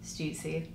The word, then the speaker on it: Stüssy: Shawn's last name is pronounced Shawn Stüssy.